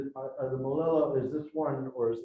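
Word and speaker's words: moʻolelo: How do you pronounce it? Moele? The Moele, the stories, the legends. Molelo.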